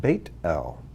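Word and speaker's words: בית אל: and when you see the name beth l which means house of l house of god it's technically translated bait el or the word bethlehem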